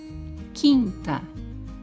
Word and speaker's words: quinta: Quinta. Temos dígrafo na palavra quinta? Onde? Sim, o QU, porque neste caso o U não é pronunciado, portanto é dígrafo.